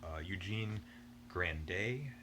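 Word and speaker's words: Eugénie Grandet: you would typically imagine from bozak we have eugene grande that's how you pronounce it and now these are the kind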